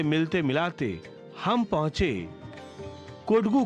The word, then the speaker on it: कोडगू: दरअसल कोडगू, जिसका उच्चारण ब्रिटिश अधिकारियों के द्वारा कुर्ग किया गया, ऐतिहासिक काल से कुर्ग के जनजीवन सैन्य जीवन के साथ ही जुड़ा रहा।